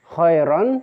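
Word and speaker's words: خيرا: Khairon, ya. Khairon dibaca khairo.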